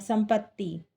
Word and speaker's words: संपत्ति: स, संपत्ति, स माधा है, पा ता में छोटी की मात्रा है और ता आधा है, संपत्ति।